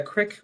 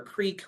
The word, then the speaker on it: creek: this gentleman here um had a crick or a creek whatever your preferred Regional pronunciation is that ran through his